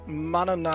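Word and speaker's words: Manannán: Oh, and it's Mananan.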